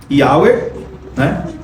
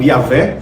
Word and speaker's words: Yahweh: Yahweh, ou Yahvé, como você quiser pronunciar, ele era o rei de Israel.